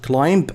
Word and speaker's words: climb: try to climb up B is Silent not climb no climb and you think when you